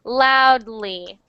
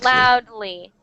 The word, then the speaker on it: loudly: the correct pronunciation is loudly loudly loudly it's a tiny D sound but many people many people um it's like an invisible D it's like and sometimes